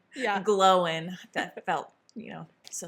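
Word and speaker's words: Glóin: book and I was like oh it's Owen Glowin.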